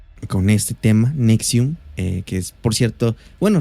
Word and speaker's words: NXIVM: millonario tuvo mucho poder nx y vm o por su pronunciación nexium fue una secta que